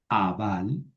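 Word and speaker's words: אבל: El verbo abal, abal, la alef no se pronuncia.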